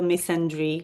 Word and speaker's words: misandry: I'm not okay with the misandry, or how do you pronounce it in English? I don't know, the equivalent of misogyny for men, Yes, which is misandry.